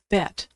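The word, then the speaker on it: בית: Bet, which is pronounced B as in boy or V as in victory.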